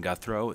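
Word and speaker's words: Guthreau: revenue and economic development my name is guthro it's spelled last name guthro g-u-t-h-r-e-a-u and I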